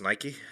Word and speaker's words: Nike: Nike on it um I think it's pronounced Nike uh basically same as the shoe company that's where they got